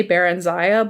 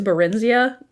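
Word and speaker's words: Barenziah: it and it's like i always say the name wrong i always want to say baron ziya but i think it's barinsia oh it's like this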